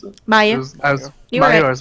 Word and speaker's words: Mayu: It's, how do I pronounce it? Mayu.